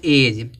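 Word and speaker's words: edge: पहले जब डी आएगा तब क्या होगा डी साइलेंट होगा यहां देखो दिया एज यहां देखो जी है और जी से पहले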